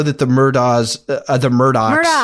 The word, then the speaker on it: Murdaugh: She says she says Elick because of her accent, but it's Alec. It's Alec Murdock.